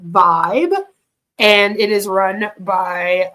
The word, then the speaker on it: Vyb: a company called Vibe spelled vyb but it's supposed to be pronounced like Vibe and it is run